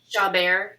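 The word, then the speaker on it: Chabert: Lacey Chaubert. Chaubert. Is that how you pronounce it? Yeah. Chaubert, yeah, and Holly Robinson Peete.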